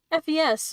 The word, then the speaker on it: Fes: with the Shia youth FES was the one who wrote the lyrics and uh you pronounced it like the first half of Festival supposedly her name wasn't